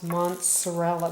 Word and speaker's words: mozzarella: I always want to pronounce mozzarella with an N in there. It's mozzarella cheese.